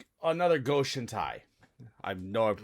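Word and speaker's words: Go-Shintai: It's another Goshen Tai. I know I'm mispronouncing Basically, that, yeah. but it's another Goshen Tai no, card. Goshen Tai is right.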